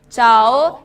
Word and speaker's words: 早: 자오 발음이 자오, 이르다 자오, 늦다는 완, 일찍은 자오, 늦다는 완, 빠르다 자오 하시면 돼요.